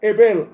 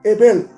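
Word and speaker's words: הבל: Abel se pronuncia Ebel en el hebreo. Ebel. Entonces, cuando dijo Salomón vanidad de vanidades, estaba diciendo Hebel Jabalín.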